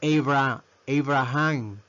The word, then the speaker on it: Abraham: Mire, le conocemos como Abraham Lincoln, pero su pronunciación es Abraham. Mire, Abraham. La A, ¿verdad? Ya no la pronunciamos como en Apple, la pronunciamos con A.